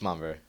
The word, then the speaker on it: Montverde: It's Montverde.